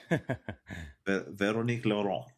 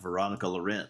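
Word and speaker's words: Véronique Laurent: for a article, which is why I can sort of halfway say her name in bad French. Veronic Lauron. Because I asked her, "How do you say it?" I said, "Everybody over here reads it like Veronica Laurent."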